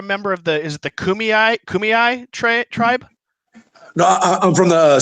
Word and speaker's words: Kumeyaay: I'm blessed, I want to make sure I pronounce it right, but you're a member of is it the Kumeyaay tribe? No, I'm from the San Pasqual Indian Reservation, but we are Kumeyaay Indian, yeah.